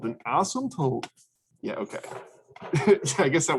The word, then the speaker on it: asymptote: usually say s asymptote most people don't actually pronounce the p um so let's delete that word okay so that's it's asymptote that's how you pronounce